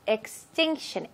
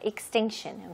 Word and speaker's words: extinction: 그래서 extinction, extinction. 이렇게 빨리 읽을 때는 거의 I처럼 읽게 돼요. extinction.